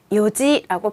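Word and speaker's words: 四時: 요지. 맞습니다. 4시는요, 원래 4는 용이잖아요. 그리고 시는 지예요. 그런데 이게 탈락돼서 요지라고 해요. 한국어에서도요, 하나, 둘, 셋, 넷인데, 넷이라고 하지 않죠. 넷이라고 하잖아요. 조금 관련시키면 쉬울 것 같아요. 요지라고 편안하게 읽습니다.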